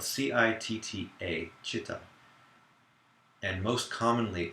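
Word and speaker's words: citta: the word heart, I'm referring to the word chitta, which is spelled C-I-T-T-A, chitta.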